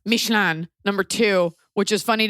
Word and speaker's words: Michelin: okay first of all it's pronounced mishan number two which is